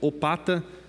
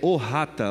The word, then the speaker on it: Ohata: O vereador Edgar, ele diz que é Ohata. É a tradução dessa palavra aí que a gente está vendo, Opata, a pronúncia é Ohata, lá no bairro Figueira, conhecido como Jamique, a região ali do Jamique.